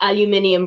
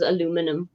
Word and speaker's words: aluminium: makes sense but also add in other letters like aluminium versus aluminum we don't have we have we have an i at the end and you guys don't okay well I mean